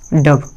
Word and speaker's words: daub: अपना अगला वर्ड है डब। DAUB।